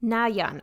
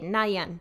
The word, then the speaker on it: Nayeon: But first I'm going to double check how to pronounce her name because I don't want to be saying it wrong the whole video. Nayeon. Okay, Nayeon.